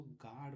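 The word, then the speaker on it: guard: जैसे गार्ड यहां देखिए जी है जी के बाद यू ए आर डी इसको गार्ड पढ़ते हैं।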